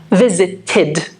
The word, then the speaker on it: visited: We need to add one syllable. Visit, visited. So that takes the sound id.